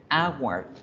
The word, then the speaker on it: hour: Pero resulta que en inglés la hora, al igual que en español, esa H no suena. Miren la pronunciación. ¿Cómo empieza la pronunciación? Empieza con un sonido de vocal, que es la A.